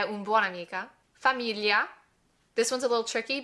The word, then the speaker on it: famiglia: Famiglia. This one's a little tricky because we have that li in there, that G-L-I, and we don't necessarily have that sound in English, so it's a little tricky to pronounce.